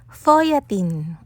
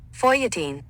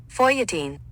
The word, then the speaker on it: feuilletine: Foyatin. Tama yun. Huwag kang judgmental. Tunogm lang talaga pag ako'y nagpo-pronounce. Pakinggan niyo sa Google. Foytatin. Foyatin.